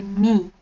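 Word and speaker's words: མིང: give you an example the word name in jonker is ming m-i-n-g but that's the written form if you want to pronounce it or say it you would usually say me there are a lot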